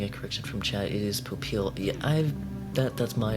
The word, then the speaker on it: Popeil: and I'm getting a correction from chat is Popeil yeah I've that that's my apology I've been messing up that pronunciation for a while I wasn't sure if it's Papale Ron Popeil I've I've never noticed that just